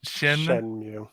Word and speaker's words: Shenmue: It's Shenmue.